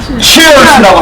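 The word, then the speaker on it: cheers: 그럼 영어로는 어떻게 하느냐 제일 많이 쓰는 말이 치얼스라고 하는데 자 한번 부딪히면서 한번 해 보겠습니다 시작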